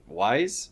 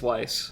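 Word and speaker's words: Weisz: between emma stone and rachel wise is that how you say it why survive i've never been sure which one it is i think it's weiss okay okay um yeah she's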